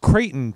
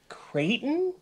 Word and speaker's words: Creighton: Creighton? Like Peyton, but with a crate? Like he was conceived on a crate, and so they named him Creighton.